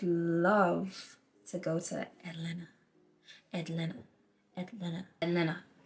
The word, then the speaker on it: Atlanta: Atlanta. I feel it's like Toronto. You don't even be pronouncing the T's.